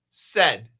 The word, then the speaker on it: said: It's a short E. Said again.